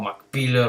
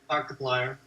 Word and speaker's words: Markiplier: or I don't know, Mark Pillar or whatever they call it all. Markiplier. Mark Pillar. That's his Oh name. my god, say it right.